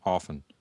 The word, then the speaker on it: often: intentionally don't do it the t is is technically silent in as the preferred pronunciation it's often okay just like you